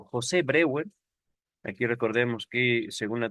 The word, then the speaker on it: Breuer: Y por supuesto, hay quien lo pronuncia Brouwer. Ahorita lo voy a latinizar, pronunciarlo como se leería en español, Breuer.